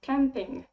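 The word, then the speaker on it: кемпинг: also have this noun camping and in russian it sounds like camping camping by the way i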